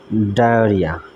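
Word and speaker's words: diarrhoea: ভোজনশালা তারপরে আসি পাঁচ নম্বরে পাঁচ নম্বরে আছে ডায়োরিয়া ডায়োরিয়া বানান অনেক ছাত্র তথা অনেক মানুষ এটা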